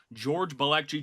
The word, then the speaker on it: George Balekji: George Balekji. George, did I nail that pronunciation right there?